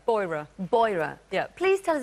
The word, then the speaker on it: Beurer: Do I pronounce it Beurer? Beurer.